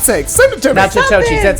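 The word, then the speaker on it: Natchitoches: Nachitoches, that's how you pronounce it.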